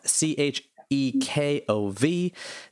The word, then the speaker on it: Chekhov: It is The Duel by Anton Chekhov, Chekhov. Did I pronounce any of those words wrong?